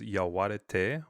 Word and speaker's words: Yaguareté: the title of the book is Yaguareté White, which comes from the Guarani and means, essentially white jaguar.